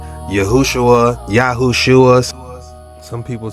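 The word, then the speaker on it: יְהוֹשֻׁעַ: And if you look at the Strong's Concordance, It says that name popped up 218 times And this is how it's pronounced Yahu-wsh-uwa, Look at the No.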